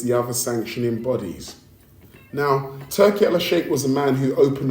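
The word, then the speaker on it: Turki Alalshikh: So, I listen, I've got to say it like this because that's what it is. Turkey Allah Shake opened the door for Dana White and let him in.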